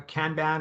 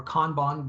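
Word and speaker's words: kanban: switch over to kbon so it's pronounced as either a can ban or con Bon based on you know how you want to pronounce it but it's also a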